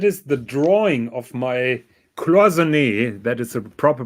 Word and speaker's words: Cloisonné: So that is the drawing of my Cloisonné, that is a proper pronunciation, dear Pontiff, of my Cloisonné dial.